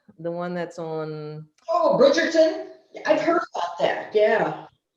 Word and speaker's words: Bridgerton: I'm trying to think of how to pronounce it. It's Bridgerton, the one that's on. Oh, Bridgerton.